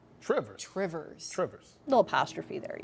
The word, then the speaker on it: Two Rivers: Door County Coffee, yeah, his, I guess his sister-in-law and brother-in-law live in two rivers which if you're from Wisconsin, it's pronounced Trivers. Trivers, rivers, rivers, little apostrophe there, yes, OK.